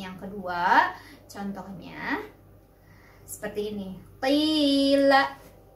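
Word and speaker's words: قِيلَ: Nah, yang mana madnya? Madnya adalah iya sukun ya. Kemudian sebelum iya sukun itu ada huruf berbaris kasrah. Jadi itu sudah memenuhi syarat mad tabi'i. Kita bacanya di ayun atau dua ketukan.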